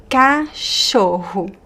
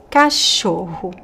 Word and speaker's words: cachorro: So we have the "ch" which sounds like "sh". We have the double "r" which is pronounced like "ha ha ha" in the most common accent. And the last "o" could be "o" or "u". Cachorro. Cachorro. Both are correct. How about this one?